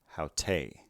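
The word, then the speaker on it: αὕτη: The feminine form begins with a rough breathing, a diphthong, ow, a tau, and finally an ada, haute, haute.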